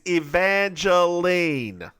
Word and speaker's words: Evangeline: Angel Evangel Evangeline Evangeline the woman's name is Evangeline it's too many syllables not Angelina Jolie Evangeline